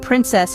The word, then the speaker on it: princess: The word princess has a short I sound and ends with a SS sound. It's pronounced princess.